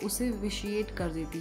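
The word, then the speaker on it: vitiate: ठीक है, तो अब बढ़ते हैं दोस्तों हमारे सेकेंड वोकैब की तरफ, विच इज़ विशिएट। आप इसे विटिएट, वाइटिएट, विटियाट ऐसे प्रोनाउंस नहीं करेंगे, आपको इसे बोलना होगा विशिएट।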